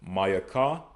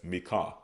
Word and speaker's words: Micah: Micah, which we pronounce as Mayaka. Okay. Mayaka, but they pronounce as Micah.